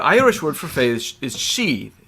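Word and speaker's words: sidhe: The word, the Irish word for fey is she. It's spelled S-I-D-H-E, right? She, you've heard that, like banshee kind of thing.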